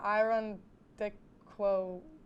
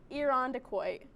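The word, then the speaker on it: Irondequoit: much pressure oh okay next one is iron dick quo oh my god closer it's iron decoy you know i got the ending kind of right you kind of you're 50 50.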